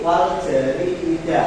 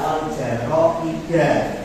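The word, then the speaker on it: والجريدة: Tadi ada sedikit kesalahan pada lafal e wal jari wal amata wal majallati wal jariida. Nah, itu yang tepat bacanya adalah wal jaroida.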